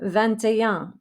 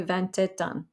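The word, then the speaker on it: vingt et un: like wine v-i-n then we go to twenty-one vantajang so this is like twenty and one the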